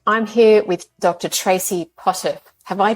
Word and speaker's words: Potterf: it's another episode I'm here with Dr Tracy Potter have I pronounced that correct Tracy yes you did good